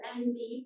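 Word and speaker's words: enby: man non-binary or envy which is spelled emby will pronounce like the letters n b for non-binary gender queer trans man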